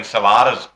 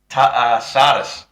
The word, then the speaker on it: Salatas: Um and you know Elijah Salatus, well I was thinking Salatas biscuits or something. Sardis Sardis like a silent T.